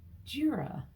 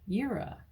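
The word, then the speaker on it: Jera: your room you've got jira IRA um like it sounds kind of even though it's spelled j-e-r-a it's the year it's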